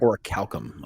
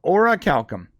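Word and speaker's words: Orichalcum: go no Ora Calcom Ora Calcom Ora Calcom Ora Calcom okay okay it's called Ora Calcom yeah I'll send you a link right now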